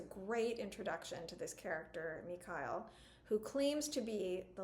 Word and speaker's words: Mikhail: Well, because, like, I, for some reason, always want to say Mikhail, which is not correct. It's Mikhail.